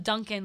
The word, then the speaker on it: Duncan: how to spell it I'm I'm dunking like Tim not like donuts yeah that was the